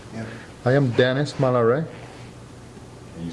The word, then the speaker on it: Malaret: I am Dennis Malare. Can you spell that? D E N I S M A L A R E T. The T is mute.